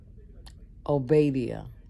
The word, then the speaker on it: Obadiah: Ahab went one way by himself, and Obadiah. Hey Siri. Hey Siri. Hey Siri. How is Obadiah pronounced? Okay, I found this on the web for how is Obadiah pronounced. Check it out. Obadiah.